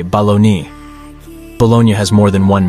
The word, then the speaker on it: bologna: There's a reason many meat packages spell it bologna. The word bologna derives from Bologna, Italy, and is one of the hardest English words to pronounce.